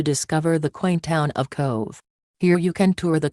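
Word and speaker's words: Cobh: offers sailings with stops in Southampton Kove Ireland pronounced Cove Cove is the port for Cork Ireland from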